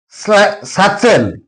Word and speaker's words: satchel: Satchel. T is followed by CS. That's why T is silent here.